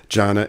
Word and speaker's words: Jana: consultant with Jana Jana is that how it's pronounced that's right Jana investment advisors so tell us what's an asset